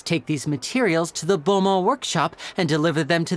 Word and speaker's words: Beaumont: to help us take these materials to the bomo workshop and deliver them to the owner there